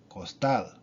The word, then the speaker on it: costal: What if it's another consonant besides S or N? Then it is the last syllable, such as in costal.